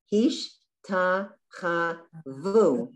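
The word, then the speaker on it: השתחוו: So it's hish, ta, cha, vu.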